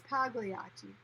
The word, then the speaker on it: Pagliacci: It's Pagliacci.